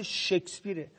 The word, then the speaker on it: شکسپیر: بالاخره یکی از هنرمندا گفت آقا به خدا تلفظ این واضح شکسپیر اول از همه شما به عنوان وزیر فرهنگ این مملکت که ما متأسفیم شما وزیر ما هستید اول از همه یاد بگیرید که نام این آدم رو درست تلفظ بکنید در چنین شرایطی در